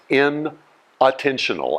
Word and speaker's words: inattentional: And no, I'm not mispronouncing the word. is inattentional as in not paying attention blindness.